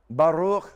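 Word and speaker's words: בָּרוּךְ: Baruch.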